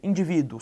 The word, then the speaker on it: indivíduo: acentuação gráfica bem Observe indivíduo pare por favor individo Observe que é a penúltima sílaba mais forte é uma paroxítona terminada em ditongo por isso a questão